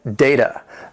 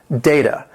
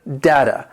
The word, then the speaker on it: data: Number 9, data. This word has 2 syllables and the stress is on that first syllable. Data. For the pronunciation, you might also hear data.